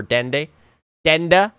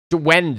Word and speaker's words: Duenda: for Proxy, 14 for Denda. I was mispronouncing it again. Duenda, actually, I believe it is. Duenda.